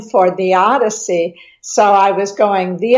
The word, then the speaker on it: theodicy: I was planning to write a poem honoring somebody and honoring the odyssey of his life. And I was looking for a rhyme for the odyssey.